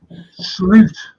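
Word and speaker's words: Slot: that would be stupid slute slute that's how you pronounce his name Mr slute when I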